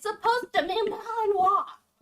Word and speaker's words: Malinois: It said Malinois. That drives me absolutely insane. It's Yes, you're malannoying me, dear. it's supposed to be Malinois.